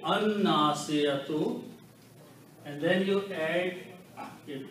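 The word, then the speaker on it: الناصية: So it becomes Al Nasiyatu. And in the pronunciation, it will be An Nasiyatu.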